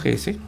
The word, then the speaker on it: Hesse: Acá tenemos el nombre completo de este personaje, Otto Hesse, si lo pronuncio en español.